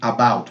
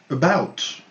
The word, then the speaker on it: about: after me about okay we don't say about we say uh uh about ignorant circumstance Africa America